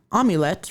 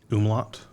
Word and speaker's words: umlaut: originally spelled with the amulet, reflecting the Danish word Baest. Umlaut? Oh, is that how you say that? Not amulet? I think umlaut is the word you're thinking of.